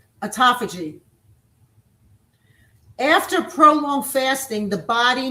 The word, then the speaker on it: autophagy: Number one, autophagy. I'll spell it for you. Autophagy. Aut like auto like autoimmune or auto things that make us, you know, that drives our bodies, right?